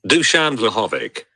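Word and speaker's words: Dušan Vlahović: Dusan Vlahovic.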